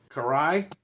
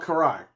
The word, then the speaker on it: Karai: i yeah I don't they called Karai Karai yeah cuz that's uh Shredder's stepdaughter and like Ninja Turtles that's how they say it so I don't know